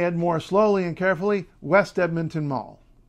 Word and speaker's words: West Edmonton Mall: more slowly and carefully West Edmonton Mall it is not has never been and never will be the West Edmonton Mall don't say well we're